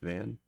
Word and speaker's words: Vannes: right at all, but I'm pretty sure it would just be pronounced Van. Really? Just Vannes would be just Van? Well, I mean, Van. French doesn't like French to person. pronounce the last letter of a lot of the words.